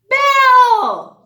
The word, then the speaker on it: bell: does this word say belle ding ding remember if there's two l's we only pronounce one bow you got it